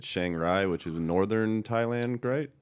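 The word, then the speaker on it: Chiang Rai: Rai but it's pronounced Chang Li um and that's that's not an Asian dig that's just the way it's pronounced a lot of their RS are actually L's and that's where I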